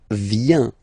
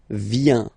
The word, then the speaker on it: vient: Okay, then il, elle, vient, final T not pronounced, il, elle, vient.